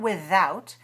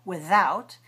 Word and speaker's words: without: Now this word without can be pronounced this way, th, without, and it can also be pronounced this way, th, without. Both are correct.